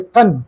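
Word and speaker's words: gan: The second gate to be known as a kun. Kun means is the g a n. Pronunciation is k a n.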